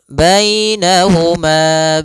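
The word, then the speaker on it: بَيْنَهُمَا: Kemudian bainahuma barzakhun la yabghiyan. Pada lafal bainahuma di sini ada ya sukun, didahului dengan fathah. Ini bacaan lin lagi, lembut dalam pelafalannya.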